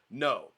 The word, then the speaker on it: Noe: But it's pronounced No.